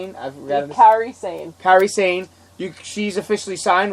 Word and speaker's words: Kairi Sane: I'm sure, and plus how do you pronounce it? Kane-san? I forgot. Kairi Sane.